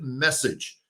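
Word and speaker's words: Meccage: new pitching coach by the name of Justin Message.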